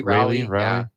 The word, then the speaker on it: Raleigh: Well, now Cal's tied with him too because Cal Rowley. How do you say his last name? Cal Raleigh.